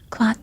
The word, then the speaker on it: quoth: Quoth the raven, nevermore. Quote the raven, nevermore. I've never read this poem before. So I don't know how things are pronounced. I'm sorry. Quote. It says quoth.